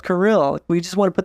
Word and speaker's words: Kirill: When I was growing up, everyone would say Carol. Oh. Alex Carroll. And it's like, no, it's Kirill.